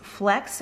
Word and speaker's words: FLX: has two meanings and flx pronounced is flex which stands for this